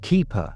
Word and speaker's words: Kiper: When he discovered the owner's surname was Kiper, pronounced Kiper, he immediately contacted the authorities.